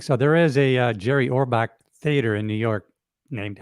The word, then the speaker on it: Orbach: Treat Williams we have Jerry orock I think that's how he say his name Jerry he was Jerry Orbach yeah Orbach he played Gus leevy